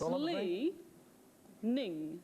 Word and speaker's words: Li Ning: Is it leaning or leaning? Well, it's... Yeah, that's a thing. It's Lee Ning.